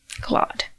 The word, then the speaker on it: Claude: So, how do you pronounce Claude? Claude.